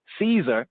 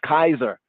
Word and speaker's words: Caesar: And the C was not pronounced as an S sound. We would have said Julius Kaiser. Julius Caesar. Julius Kaiser. That's how his name would have been said in the time.